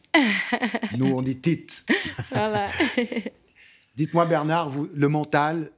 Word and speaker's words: Tite: Vous nous prononcez le nom de l'entraîneur brésilien? Tite. Nous, on dit Tite.